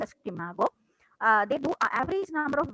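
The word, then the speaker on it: SCImago: What Shimago does is, it is pronounced as Shimago.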